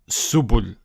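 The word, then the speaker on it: سُبُل: Then the ba with the dhamma, it's bu. And then you have the lam. And we assume that the lam is a glottal stop, a sukoon. It will be pronounced as subul. Subul.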